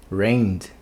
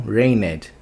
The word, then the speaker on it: rained: Então esse ED vai também ter som de D. Então vai ficar a pronúncia rained, não rained.